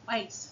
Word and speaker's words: Weiss: Originally, he was going to have his superhero be super wise, super smart, because his last name is Weiss, so it rhymes with wise.